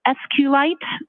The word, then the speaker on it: SQLite: lowercase i t and sqlite uh is also commonly pronounced as SQ light so both pronunciations are acceptable now once youed the